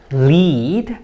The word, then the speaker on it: lead: And here we have the verb lead, and when you pronounce it like that, lead, then it has the meaning of to go in front of others, and all the other